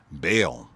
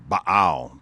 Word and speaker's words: Baal: one of the children, Baal or Baal, depending on how you want to pronounce it.